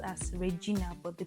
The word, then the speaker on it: Regina: University of Regina spelled as Regina, but the pronunciation is Regina.